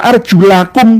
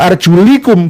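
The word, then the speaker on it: أرجلكم: Wamsahu biruusikum wa arjulakum boleh, wa arjulikum boleh.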